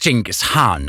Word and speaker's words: Dschingis Khan: zurückließen Einspruch zunächst einmal wird es jinkes han ausgesprochen wirklich in der Mongolei ja unabhängig davon war